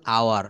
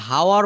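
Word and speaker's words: hour: ঘন্টা দু ঘন্টা তো এখানে আমরা হাওয়ার বলবো না যদিও শব্দটা এইচ ও ইউ আর এমনটি হওয়া কথা ছিল যে হাওয়ার। কিন্তু না আমরা বলব আওয়ার।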